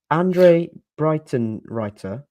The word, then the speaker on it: Andre Breitenreiter: How do you pronounce Huddersfield manager's name? Andre Breitenreiter.